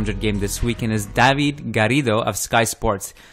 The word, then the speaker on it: Garrido: You roll your R's, my friend. That's good. That's how it should be.